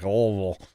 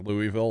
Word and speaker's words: Louisville: in lville and uh if you didn't say it like lville people would look at you funny if you said like Louisville like people actually there